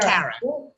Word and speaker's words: Kara: How do you pronounce it? Kara.